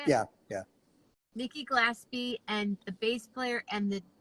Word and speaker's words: Glaspie: Nikki Glaspie, and the bass player and the guitar player.